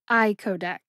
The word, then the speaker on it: icodec: it slowly I codc iodc I like eyeball Co like co-pilot and deck like a deck of cards the first syllable I